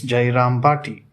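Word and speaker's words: Jayrambati: village of jairam bhati jairam bhati it is pronounced as jairam party unaffected by the marriage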